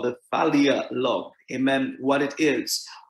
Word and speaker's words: Philia: But we understand that Philia Love, and it is spelled P-H-I-L-I-A, Philia Love, amen, pronounced with an F sound, right?